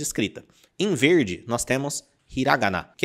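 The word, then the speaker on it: ひらがな: O primeiro deles é o hiragana. E ó, já toma cuidado para não falar hiragana, ok? Hiragana. Hiragana. Presta atenção na pronúncia.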